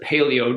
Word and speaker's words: paleo: So there's as Americans pronounce it, paleo diet.